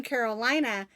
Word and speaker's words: Carolina: She's just precious, and she spells her name Carolina, but she pronounces it Carolina, and I think that's pretty.